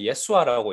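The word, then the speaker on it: ישוע: 히브리어는 예수아라고 읽히고 구약에서는 대표적으로 이 여수아가 바로 이 이름을 가지고 있는 사람입니다.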